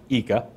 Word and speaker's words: ICA: talked about this customer eeka so eeka is the eye and it's actually spelled ICA but it's pronounced eeka I was corrected by